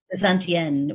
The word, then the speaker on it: Bezantienne: And I am on Instagram, but always forget to use it as Bezantienne, which is spelled Bezant and then the French feminine ending.